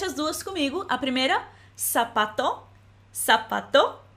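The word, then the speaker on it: zapato: é sapato sapato então em português a gente escreve com s mas a pronúncia delas é praticamente a mesma sapato sapato mesmo que a gente escreva com z e espanhol EA segunda palavra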